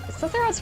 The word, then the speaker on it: Sephirot: Yeah, Sephirot's pronounced Sephirot.